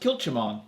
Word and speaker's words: Kilchoman: machula bay coral line i think it's pronounced kilchimon yeah i hate these